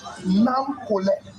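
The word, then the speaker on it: Nakolleh: Nam Kole, how to spell it? Nam Kole. You have to document that. We will document that. First of all, how to spell it? N-A--K-O-L-L-E-H. Nam Kole. It means big brother Kole.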